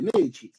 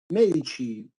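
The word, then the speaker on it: Medici: Francisco no vendría ser la traducción Francisco de medichi medichi medichi ahora yo sé que esto no es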